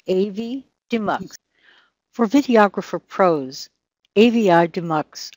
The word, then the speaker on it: Avidemux: asked that very question the name comes from Avi which is audio video inter leave and the term demux so putting the two together it's AV demux for videographer Pros Avi